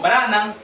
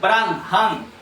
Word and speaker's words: Branham: Señor, la otra le decía, si nosotros decimos Branan, no está bien pronunciado. Branan. Si decimos Branan, no estamos pronunciando la H. Pero si lo pronunciamos correctamente, él es Bran Han porque él lleva la H de Elohim.